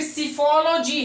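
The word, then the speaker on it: psephology: फिर सीफोलॉजी है, P silent है एंड पे जो लिखा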